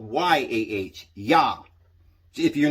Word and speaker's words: Yah: and sometimes it's called y a h yah if you're not certain i a h is yah they spell it y a h a lot of the time and that that just means ya and that was one